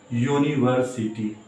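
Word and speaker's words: university: क्योंकि यूनिवर्सिटी का जो पहला जो होता है उच्चारण शुरू होता है वो य से होता है, फिर ऊ, यूनिवर्सिटी।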